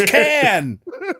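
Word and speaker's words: Cannes: Long enough for you to learn that it's not pronounced con France.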